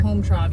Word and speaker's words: Hometrov: Yep so let let's Circle back to the home Trove you said you're going to tell us how